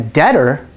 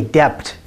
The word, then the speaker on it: debt: or a debtor a debtor owes a debt to another person we don't say depth we say debt the person owes a